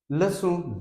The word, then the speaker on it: leçon: Leçon 2. Here, if you observe the spelling of C, this is C with cedilla. This is pronounced like se, leçon, leçon 2, salutations.